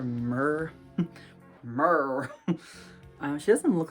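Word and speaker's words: Mir: sometimes she's called it's spelled m-i-r so i always just call her mer mer she doesn't look like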